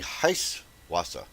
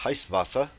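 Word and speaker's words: Heiß Wasser: it's going to be heist Wassa which is actually pronounced heist vasa and what that means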